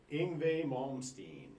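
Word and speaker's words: Yngwie Malmsteen: what tickets what tickets did you buy tonight inve malmstein inve Malin yeah all right I got to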